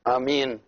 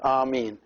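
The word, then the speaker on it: ⲁⲙⲏⲛ: That is, you know this in all languages, the same word, and it is two syllables, a, and then mean, which with the long two eyes attached together, so it is amin.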